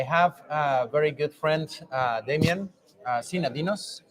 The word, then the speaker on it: Damian Synadinos: All right, Damian Synadinos, you pronounced it correctly.